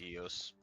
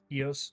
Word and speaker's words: EOS: I would pronounce that as EOS. EOS.